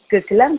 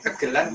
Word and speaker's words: gegelan: Tapi itu dulu dasar bahasa bacanya benar gegelan ya, Mas? Gegelan atau gegelan sama aja keduanya. Kegelan atau gegelan sama.